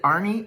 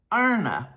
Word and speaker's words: Arne: And then the main speakers for Friday night were Arne, and I learned how to say his name. I've always said it Arnie and Carlos. Arne and Carlos.